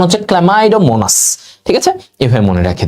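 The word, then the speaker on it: Chlamydomonas: আর যারা সচল চল সচল চল চলমাই এটার উচ্চারণ হচ্ছে ক্লামাইডোমোনাস ঠিক আছে এভাবে মনে রেখে দিবা এগুলো আমাদের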